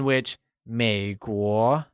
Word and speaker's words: Měiguó: American people translates asMěiguórén, in whichMěiguó is pronounced with a falling rising tone on the e and a mid rising tone on the o Lets hear you say Měiguórén good job!